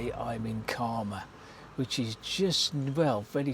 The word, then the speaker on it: Caldmore: to the area uh you would probably be saying Cold War green but uh many here who live here will inform you that it is in